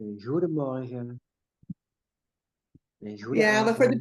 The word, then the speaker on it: goedemorgen: You know, we have a very people here have they speak with a very soft G. The G. It's very soft. It's like a goedemorgen.